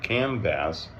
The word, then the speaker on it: Kamvas: Kam vas. I know kind of weird way to pronounce to spell it, but that's what they do.